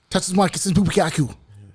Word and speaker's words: Tatsumaki Senpukyaku: Who knows how to pronounce Tatsumaki Senpukyaku? Tatsumaki Senpukyaku.